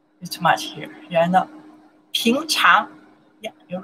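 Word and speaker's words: 平常: In Chinese, we pronounce the. Too much here. Yeah, no. Píngcháng.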